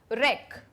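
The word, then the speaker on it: wreck: रेक रेक W silent है।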